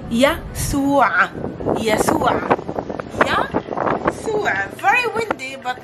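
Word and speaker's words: يسوع: Yasu'a. Remember, there's a ayn sound at the ending.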